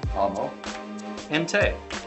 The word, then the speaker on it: Amote: world according to amote you might be wondering how do you say that well it's just ammo entei welcome back to the